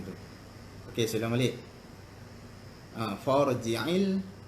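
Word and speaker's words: فَارْجِعِ: Farji'il basara. For tebal ya, bukan far.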